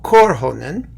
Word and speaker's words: Korhonen: the Finnish guitarist Timo Korhonen see I got the accent on the first syllable there you go we